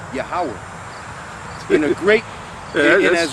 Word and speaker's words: Yahawah: the Most High as Yahawah. Right. As a matter of fact, I'm saying it the right way, but the way it's here is pronounced YAHWAH.